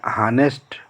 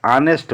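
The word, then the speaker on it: honest: एन हानेस्ट मैन है तो ऑनेस्ट मैन कहा जाता है, तो यहाँ पर हम ऑनेस्ट मैन कहते हैं।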